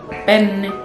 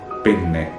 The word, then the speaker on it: penne: And the other pasta is penne. Penne. Penne. Penne, don't be confused. It's the N must be strong.